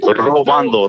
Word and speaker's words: robando: Robando. Porque moreno esto robando. That correct? Yeah, robando. You roll the R a little bit, roll.